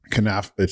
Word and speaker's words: Knafeh: Kanaf. It's spelled Knafeh. Kanafi.